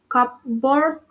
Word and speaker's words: cupboard: P is silent in this word. For the example, cupboard, corpse, raspberry. S is silent in the words below.